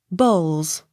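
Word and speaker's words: Bowles: e burn b o w l e s bowls b r e a d a l b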